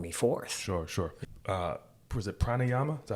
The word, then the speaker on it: pranayama: Was it pranayama? Is that how you pronounce it? Pranayama, yeah.